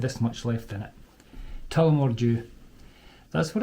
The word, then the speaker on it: Tullamore: Tullamore Distillery is in Tullamore, in the county Offaly. That's how it's pronounced, folks.